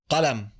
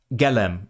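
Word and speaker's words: قلم: So the standard word for pen, Qalam, is pronounced galem in those accents. But in northern Egypt, it's pronounced Alam.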